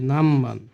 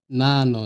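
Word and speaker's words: 何番: Number platform, কত হচ্ছে নামবান। এখানেও কিন্তু না ন, নান কিন্তু নয়, ন কিন্তু হবে না, এটা ম হবে। আমি বাংলায় লিখে দিই নামবান, এটা হবে নামবান।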